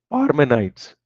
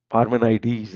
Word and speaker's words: Parmenides: And nothing, uh, yeah, Parmenides, I think that is the correct pronunciation, like Archimedes.